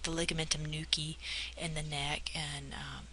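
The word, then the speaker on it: nuchae: location would be the aorta or the ligamentum Nuki if you want to put that down but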